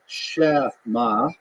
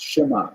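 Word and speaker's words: Shema: of a partial pronunciation like the word shma right shma you don't say shma you don't say shma it's shma it's a little bit of a gap in it so he counted dun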